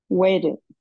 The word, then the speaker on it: waited: Waited. Waited. Waited. ¿Qué es? Agrega una letra, o sea, una sílaba adicional, ¿cierto? Porque termina sí. En T. Termina en T, ¿no es cierto?